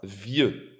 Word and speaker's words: vieux: You're not actually saying the X. It's pronounced vieux.